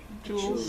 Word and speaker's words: joules: Newton meters, otherwise known as, rhymes with ools, Joules.